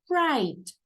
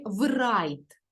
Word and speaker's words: write: правильно вимовити чи ні ось дивіться слово писати англійською мовою вимовляється write в чітко не читаємо не врайт Ні це буде неправильно ми не можемо прочитати